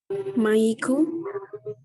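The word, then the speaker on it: マイク: Mungkin kan kalau di Inggrisnya tuh kan M-I-C ya, mik gitu. Tapi dibacanya Mike kan. Nah, karena gitu jadi pengucapannya Maiku. Karena di Jepang nggak ada kayak nggak ada apa namanya konsonan mati, jadinya ditambahin vokal jadi Maiku gitu.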